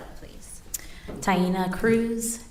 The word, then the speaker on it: Taina: thank you can you state your name and spell it please tyena Cruz t a i n a last name